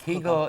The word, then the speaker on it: kugel: who says kegel and who says kegel is usually the polish was the polish pronunciation and kugel was more the lithuanian or lit fish but for um for our sake we'll say kugel because most people are